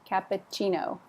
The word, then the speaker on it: cappuccino: The stress is on the chin. Cappuccino.